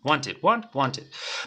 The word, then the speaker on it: wanted: practicar pronunciación vale tenemos want y la pronunciación le agregamos ID Entonces como te dije al final del día estas pronunciaciones tienes que saberla de manera memorística tiene que salir al instante want Wanted vamos a practicar forma